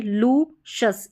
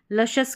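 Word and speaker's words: luscious: यहां पर देखिए इसको लु इसको लु नहीं पढ़ेंगे। लुशस इस तरीके से लुशस इसका उच्चारण यहां पर दे रखा है। लशस करके इसका सही प्रोनाउंसिएशन है।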